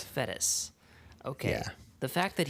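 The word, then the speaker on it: Fettes: Fede. Uh, it's Donald Fetis. Fetis.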